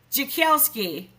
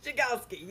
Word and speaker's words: Jagielski: in real life I just can't pronounce her last name jelski yes jelski yep you got it we were making that